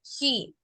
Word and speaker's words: he: siguiente pronombre personal es he he significa él se escribe con h pero en el español lo podríamos pronunciar como si tuviera una j Okay entonces Pueden repetir